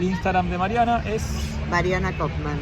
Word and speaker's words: Koppmann: Mariana Kopman. Kopman se escribe Kopppmann.